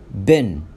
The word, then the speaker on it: been: الفعل اللي قدامنا in American English بننطقه been، فهنا الدبل اي بننطقهم إيه as in set، بننطقهم إيه. لكن في البريتش انجليش بننطقه زي كلمة بين، فبالأمريكي بنقرأ بين أو بننطقه بين، لكن بالبريتش بننطقه بين.